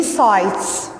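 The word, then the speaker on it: sights: word take care number three sites sites and gh here is silent sites places of interest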